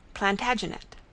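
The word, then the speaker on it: Plantagenet: The Latin name for broom is plant janista and gradually it came to be pronounced plantaginet.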